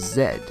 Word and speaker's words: Z: over in the UK instead of saying the word Z we pronounce it as Zed so it basically to